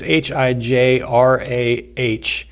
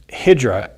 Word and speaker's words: Hijrah: It's Hijrah. I believe it's pronounced Hijra, which is it's an Arabic word that describes, in the year 622, the Islamic prophet Muhammad set out on the first Hijra.